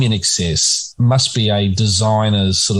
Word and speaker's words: INXS: they insisted on putting a sticker on the album cover that said pronounced in excess um because they thought